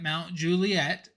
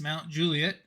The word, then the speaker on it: Mount Juliet: about the rankings just make sure that you aren't pronouncing it Mount Juliet which is very common and you want to say it is Mount Juliet and so that's just